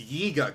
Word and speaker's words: Yiga: it looks like deadpool say it right it's yiga clan is something in video